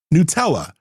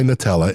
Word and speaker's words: Nutella: Nutella, and I know a lot of people say Nutella. It's actually pronounced Nutella, from what I understand.